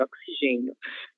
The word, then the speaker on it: oxigênio: Indicando, nesse caso, que a sílaba tônica desta palavra é a sílaba gen, oxigênio, certo?